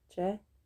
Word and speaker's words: c'è: It's pronounced the same as a C followed directly by an E.